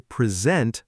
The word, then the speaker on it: present: Remember, action equals stress on the second part. I will present my project tomorrow.